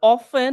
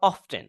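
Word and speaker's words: often: আর অফেন র অফটেন আমরা দুইভাবে উচ্চারণ করতে পারি। অফেন সাধারণত ব্রিটিশ স্টাইলে আর অফটেন আমেরিকান স্টাইলে এন্ড টক এবাউট উই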